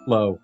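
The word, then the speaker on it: Kloe: It's actually pronounced Lue. Chloe? It's Chloe.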